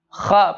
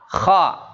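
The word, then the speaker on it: خ: Coba kha, Pak, ikutin. Kha. Khi. Khu. Bakh. Kha. Khi. Khu. Bakh. Iya. Yaitu terangkatnya lidah, ya, terangkatnya lidah kita ketika pengucapannya.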